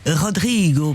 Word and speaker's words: Rodrigo: Rodrigo, prononcé à la portugaise.